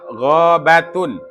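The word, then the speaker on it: غابة: Ini bacanya ghabatun.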